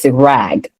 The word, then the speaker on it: rag: sound too in English, it's rag. And there's a difference between the rag and wag.